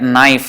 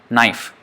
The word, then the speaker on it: knife: relation almost sometimes and words like knife for example the K is silent you take out that it is still you know knife and actually I saw